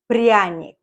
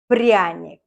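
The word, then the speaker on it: пряник: bought this to gingerbread let's learn how to pronounce this prionic prionic brionic prionics it goes back to the 18th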